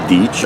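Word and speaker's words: Deitch: That's spelled D-E-I-T-C-H. I'd like to get rid of an itch, as I was telling the State Water Resources Conservation Board a little over a year ago.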